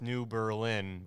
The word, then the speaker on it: New Berlin: yeah and they literally have Germantown because I mean so don't forget we have New Berlin yeah pronounced New Berlin I changed the way people said it after